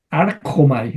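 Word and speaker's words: ἄρχομαι: artomai, Arjomai, Arjomai, ahí, no sé, ahí, Querujo, ahí suena como una J, ¿no?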